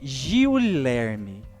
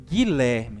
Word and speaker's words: Guilherme: comigo a palavra Guilherme nós não falamos Gilherme né nós falamos Guilherme então nós pronunciamos um